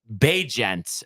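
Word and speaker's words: Bagent: in the clutch here saying pronounced be jent at least that's how they say during games L well so we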